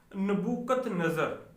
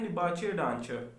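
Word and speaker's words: Nebuchadnezzar: इसको वो लिखते हैं नबूकत नज़र। ठीक है, इंग्लिश में जब आप बहुत लंबा सा इसका नाम है, अगर आप इसकी प्रोनाउंसिएशन चेक करें तो वो बोलते हैं निबाचे डांचर।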